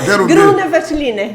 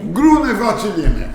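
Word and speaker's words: Grüner Veltliner: Eu quero ver tu pronunciares essa uva, Márcia. Gruner Veltliner. Gruner Veltliner.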